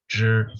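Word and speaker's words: 纸: or a clan, but is pronounced shi, which sounds like zhi. I don't know the Chinese logic for that, but let's move on. It is zhi for paper.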